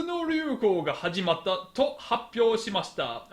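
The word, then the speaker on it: 発表: This is pronounced happyo.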